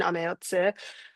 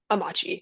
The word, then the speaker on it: Amache: And I think important to mention in that is that when NPS or other affiliated folks give tours and they mention Ameotsu, they often pronounce it Amachi.